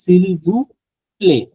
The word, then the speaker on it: s'il vous plaît: এখানে একটা বিষয় হচ্ছে সিলভু প্লে, সিলভু প্লে না টি নাই বলার সময় play, s'il সিলভু vous plaît.